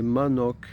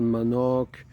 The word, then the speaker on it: manok: Le mot du jour, c'est manoc. Alors manoc, ça s'écrit M A N O K et ça veut dire poulet.